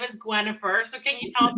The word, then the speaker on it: Gwenhifer: Oh, she's named after the wife of King Arthur, Gwenhifer, and to have an easier German way of pronouncing it, it's Gwenhifer.